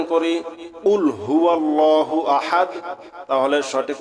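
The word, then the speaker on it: قُلْ: কফ গলার ভিতর থেকে, কফ গলার ভিতর থেকে উচ্চারণ হবে। একটা হলো কফ আর একটা আছে কাফ। এখানে আমরা যদি সঠিক উচ্চারণ করি কুল হুয়াল্লাহু আহাদ, তাহলে সঠিক উচ্চারণের সঠিক অর্থ হবে বলো তিনি আল্লাহ এক অদ্বিতীয়।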